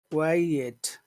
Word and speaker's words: quiet: Qui quiet quiet quiet quiet that's right that's right can you say it again Muhammad how would you say number two Qui that's good that's clear I can hear the two I can hear the